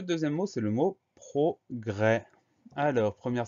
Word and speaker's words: progrès: Donc progrès, on fait attention au son E qui s'écrit E accent grave, et au S muet à la fin du mot, progrès P-R-O-G-R, E accent grave, S.